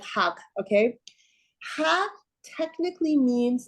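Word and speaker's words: حق: There's this word in Persian, the word, the way you pronounce it is hag, which is a weird word, hag. Like it would be like H-A, I don't know, Q-G-H, like hag, okay?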